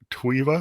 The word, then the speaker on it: TWEVA: to you and you're the co-founder um of TWA is that how you pronounced it yes yes the co-founder of TWA